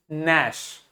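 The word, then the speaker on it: gnash: बाद एन लिखा है तो जी को प्रोनाउंस नहीं करेंगे क्या बोलेंगे नश नश मतलब होता है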